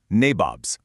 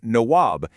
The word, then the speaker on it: nawab: And they even got a nickname for themselves, nabobs. Now, this is basically a British mispronunciation of the Indian word nawab, which means a local prince or ruler.